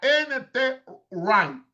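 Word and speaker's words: N. T. Wright: Menciono R, o sea, NT R. Se escribe NT W R I G H Ty W es uno de los más famosos.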